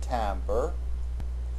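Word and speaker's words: timbre: exactly the same thing tamber the English pronunciation of a French word that means tint refers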